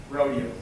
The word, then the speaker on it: Rodeo: Batman, you did have that great rodeo. Yeah, I did. Any LA natives can appreciate it. How do you pronounce R-O-D-E?